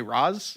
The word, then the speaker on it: Ra's: Just because you're right doesn't mean that you should pronounce his name like that, because that's not how they say it in the movie. Yeah, sorry. I honestly, that's just how I read it these days. They say they say Raz.